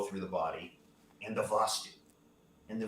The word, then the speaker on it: vastu: electrical nerve flow through the body and the vastu and the vostu which is spelled v-a-s-t-u the vastu which means the vessel